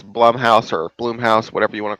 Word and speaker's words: Blumhouse: You know, what's funny is I keep saying Bloomhouse. I keep I saying know. Bloom, Bloom, as opposed to Blum. Blumhouse. Yes, I think it's actually pronounced Blum.